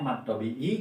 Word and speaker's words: mad tobi'i: Jadi kalau ya mati setelah kasroh itu disebutnya mad tobi'i. Jangan lupa dibacanya harus dua harokat.